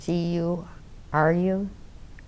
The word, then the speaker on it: guru: And then you have, I can't pronounce that either, the main one to make your intentions. And that's called G-U-R-U, Grua.